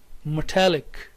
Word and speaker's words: metallic: mastiza third word is metallic say with me metallic the primary stress is here on italic metallic